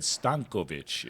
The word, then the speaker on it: Stankovic: David Stankovic is how he would say it.